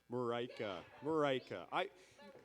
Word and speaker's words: Marika: Marika. And how many times have we met? Like, seriously, I got to get this right one day. Okay. Rhymes with Jamaica.